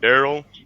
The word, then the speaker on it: Derell: __ ] my name my name derell but it's pronounced darl I don't even know